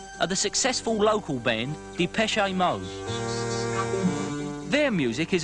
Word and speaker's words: Depeche: sound of that name and we chopped off the xn and we just kept the pronunciation de peche I'm mode show just